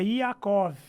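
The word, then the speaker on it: יעקב: É Iacov, Olha né?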